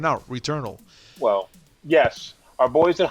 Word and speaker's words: Returnal: Returnal. Look, it's not Swedish. Yeah, it's just a portmanteau.